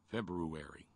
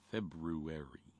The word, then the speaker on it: February: just sounds terribly sexy but in english that r is a real pain in the ass after abby and before you i try to pronounce it sometimes just for fun February February I try it enough